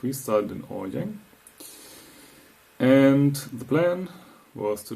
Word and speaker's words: Årjäng: So we would have started here with a fully charged car, gone to Årjäng, how it's pronounced, charge again, because we spent 3 days over there, AC charge again.